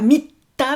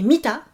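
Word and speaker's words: 見た: Attention, pas mita, mais mita, en 2 syllabes.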